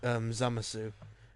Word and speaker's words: Zamasu: It's supposed to be worded without a U, and the U is silent in his name.